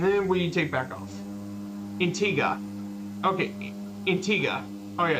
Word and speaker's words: Antigua: intega and Barbuda yeah because there's Antigua which is they don't pronounce it you yeah intega got it got it okay